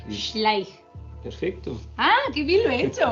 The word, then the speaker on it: Schleich: La CH es como la J. Él es alemán, entonces está explicando cómo se pronuncia su apellido, que en verdad no se escribe así. Y luego viene la SCH, que es Schleich.